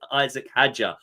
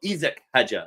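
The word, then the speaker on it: Isack Hadjar: But Isak is the French pronunciation, isn't it, of Isaac that we say anglicized.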